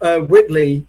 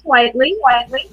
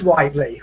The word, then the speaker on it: Whiteley: I don't know if I've said your name right because it looks to me like it's Whiteley, but you spell it. You say Whitley, don't you? It's Whiteley. It is Whiteley.